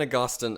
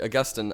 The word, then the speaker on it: Augustine: and so then then Augustin I pronounced that horribly Augustine uh kind of thinks